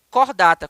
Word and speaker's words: Chordata: Escreve-se Chordata, C-H-O-R-D-A-T-A, Chordata, mas a pronúncia é cordata, como se fosse um C, tá bom?